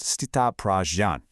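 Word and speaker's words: स्थितप्रज्ञ: It's pronounced Sthitaprajña.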